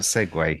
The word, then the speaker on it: segue: right I am wrong apparently it is not pronounce League it is without Segway but I'm not going to mock you because